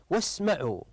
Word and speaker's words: واسمعوا: هذا الرمز احسنتم هذه هذه همزه الوصل فحال الوصل لا ننطق ولا نذكر الالف فحينما نقرا هذه الايه